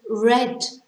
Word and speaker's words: read: or do you read many books the second pronunciation which is a spelt exactly the same is red the past tense did you read a book